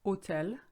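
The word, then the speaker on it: hôtel: should read it set hotel at akeryon set hotel at akuyong this hotel is welcoming you see here that the word hotel has a silent h in french therefore the sound is o that's why you have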